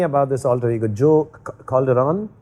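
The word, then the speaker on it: Calderone: Tell me about this alter ego, Joe Calderon? Yeah, Calderon. Calderon? Yes. O-N-E, like one, Calderon?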